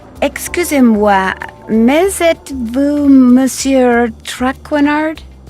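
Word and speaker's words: Tracard: Is it bumsier trainard? Please, in English, I do not wish to hear my native tongue butchered while I eat. As for my name, not traard, it is Trackar.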